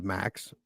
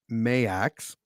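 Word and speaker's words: Maax: I thought it was Max. It's Mayax.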